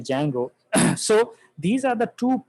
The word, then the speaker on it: Django: call this as a django uh the d is silent right so we just say django so these are the